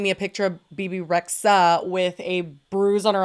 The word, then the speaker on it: Rexha: I think it's like a silent H. Did you say Rexha?